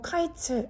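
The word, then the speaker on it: קיץ: 얻지 못한다 하는도다 1절에 여름 과일이라는 말은 히브리어로 카이츠 아고 읽고 2절에서 말하는 끝은 히브리어로 캐츠라고 읽습니다 선지자는 이런 류의 언어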